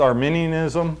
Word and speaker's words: Arminianism: Now, is this pronounced Arminianism? Yeah. All right, good. Now, there's an ethnic group of people that's pronounced something else, right? Yeah. How's that? Well, it sounds the same, but it's spelled different.